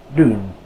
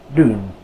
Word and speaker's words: doen: The OE blend is much like the double O in English, oo. So this word is pronounced doen, doen.